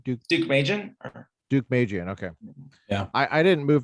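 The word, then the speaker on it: Deukmejian: duke how do you say his name dude duke mejian okay yeah i didn't move to california until 1993.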